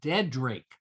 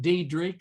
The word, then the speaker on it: Dedrick: And they were very staunch and firm about our name is pronounced Dedrick, D-E-A-D, and then Rick. So it's not Dedrick, and there's no other flair to it according to the family.